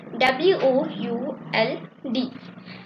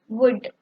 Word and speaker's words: would: a model work would w o u l d inward the letter l is silent so we pronounce it as would would so in this video